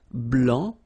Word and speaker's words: blanc: okay so here masculine BL don't pronounce the final C and then BL okay